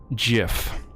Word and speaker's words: GIF: That's how we pronounce it around here. Hard pause, straight into the microphone, hard G. GIF.